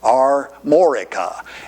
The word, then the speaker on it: Armorica: bitty tiny area called armorica and we're going to hear more about that later yes i did say it right are morika and you'll hear about